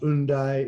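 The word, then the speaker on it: Hendaye: hende france we visited hyundai france pronounced undy in french but i'll do the english english way of speaking it there's a reason for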